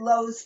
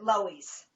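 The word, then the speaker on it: Loew's: This is a Bronx series, and it was a movie theater called, I think you're supposed to pronounce it Lowe's Paradise Theater, but in the Bronx they pronounce it Loewy's.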